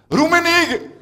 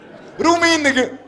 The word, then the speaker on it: Domenico: Alors, en conclusion, et eu égard à tout ce qui vient d'être énoncé, hein, le prénom Domenico, chez nous, se prononcera Rumenig. Ruminig.